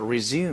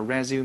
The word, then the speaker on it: resume: 词读音叫 resume，你会读吗？名词叫 resume，动词叫 resume，叫恢复，